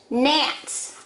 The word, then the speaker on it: gnat: These are supposed to be gnats, those little bugs. Gnats. Again, there is your silent letter.